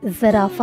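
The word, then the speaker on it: giraffe: बड़ी सी गर्दन वाला ये जानवर जराफा है। जराफा, जराफे को इंग्लिश में जिराफ कहते हैं। जिराफ, जिराफ। इस वर्ड के एंड पर ई साइलेंट है, इसको आप प्रोनाउंस नहीं करेंगे।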